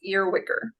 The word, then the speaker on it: Earwicker: It looks scary, but it's really not. It's pronounced earwicker.